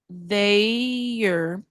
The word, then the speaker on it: they're: Sim, vamos lembrar aqui esse e não é pronunciado, então vai virar there. They're, também pode ser.